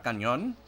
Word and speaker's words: cañón: Por ejemplo, la palabra cañón en inglés se pronuncia canyon. Es el mismo sonido.